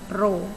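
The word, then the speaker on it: ρ: Ini adalah tanda seperti huruf P, kita bacanya rho.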